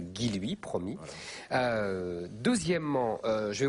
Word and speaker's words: Guilluy: est à alors d'abord je suis désolé d'avoir mal prononcé votre nom pendant 2 ans donc maintenant je dirais guiloui promis euh deuxièmement je